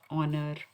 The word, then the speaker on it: honor: Honor, h is silent here.